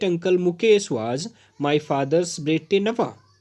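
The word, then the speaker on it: bête noire: Phrase है वो है बेटे नवा। इसका जो प्रोनाउंसिएशन है वो ध्यान से आप देखिएगा। इसको पढ़ते हैं बेटे नवा।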